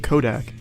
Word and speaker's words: Kodak: Remember, Nutsack rhymes with Kodak.